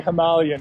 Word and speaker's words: Himalayan: i got this running himalayan himalayan himalayan apparently himalayan is the correct way to pronounce that but i don't know so sad